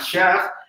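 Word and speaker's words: מהש: saber cómo se pronuncia, no solamente decir Mem He Shin, sino decir Shach, meditarlo, generar que toda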